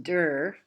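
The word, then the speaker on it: Dürer: opening this lecture with albrecht durs pronounced der even though it is spelled dur self-portrait from fifteen hundred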